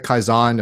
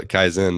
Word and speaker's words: Kaizen: This is go back to the Kaizen, if I'm pronouncing it right, concept. I have the Arkansas version of that word. So Kaizen is probably the Arkansas. Kaizen. Pronunciation Kaizen.